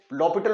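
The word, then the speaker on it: L'Hôpital: apply ल पिटल rule इसको ल पिटल रूल पढ़ते हैं स्पेलिंग इसके हॉस्पिटल के एल हॉस्पिटल रूल जब हम इसको पढ़ेंगे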